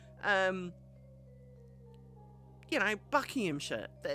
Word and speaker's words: Buckinghamshire: letters um you know Bucky him sh it's sh at the end we don't bother with SH it's sh